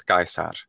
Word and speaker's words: Caesar: things like um like the word caesar is gaisar and the restored classical pronunciation but an american or